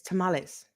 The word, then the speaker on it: tamales: It's tamales.